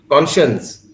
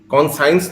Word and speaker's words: conscience: कॉन्शियंस, कॉन्साइंस तो नहीं बोलता है, कॉन्शियंस।